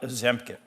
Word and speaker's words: Ozempic: Feldman, let's talk about Ozempic. Yeah, am I pronouncing that right?